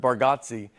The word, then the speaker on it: Bargatze: I think you say our last name correct with Bargotsi and I think we say it wrong as a family.